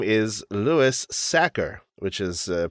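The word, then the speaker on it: Louis Sachar: And today's episode, we are covering sideways stories from Wayside School by the author whose name is Lewis Sacker, which is a pronunciation that I had to look up and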